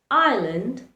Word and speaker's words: island: It remains silent in words like island, isle, or debris.